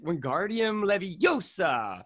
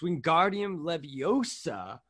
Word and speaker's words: Wingardium Leviosa: film you know and hermione says you're saying it wrong it's when guardium leviosa make the gar nice and long and that's i gotta